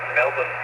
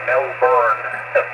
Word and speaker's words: Melbourne: And that's how they pronounce that, Melbourne. They don't say Melbourne.